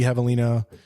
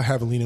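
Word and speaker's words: javelina: Two parents and a baby Havalina and a Havalina spelled with a J, by the way.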